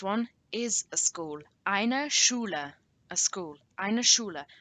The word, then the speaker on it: Schule: And remember, in these two, eine Schloss and eine Schule, you have the SCH that we learnt in our phonetics lesson, which makes a sh, not a sch or a sk, but a sh.